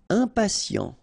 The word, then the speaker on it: impatient: ye nie ingieux ingénieux impatient ok remember final t not pronounced t i and